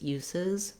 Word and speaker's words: uses: So words that end with the S sound, like use or bus, when we add it, the plural, we have to add a syllable. So use, uses, bus, buses. And that second S that we add is a Z sound.